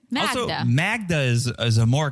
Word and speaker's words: Magda: classic so yeah apparently Joe thought her name was Magna like Magna Carta but dude it's spelled with a d yeah why would you like even if you pronounce it in an American way you would still say Magda it's Magda in Europe it's almost it's the